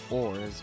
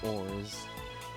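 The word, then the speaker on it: orz: despair dejection or frustration there's no set way to pronounce it people may pronounce it as words words wars or oars i used to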